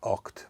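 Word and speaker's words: Ochd: And now we are using a module called Oct by Instruo. Oct is spelled O-C-H-D.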